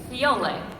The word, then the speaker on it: Fiore: It was written Fiore, which is flower in Italian. And there was a note that said, please pronounce this Fiole with an L.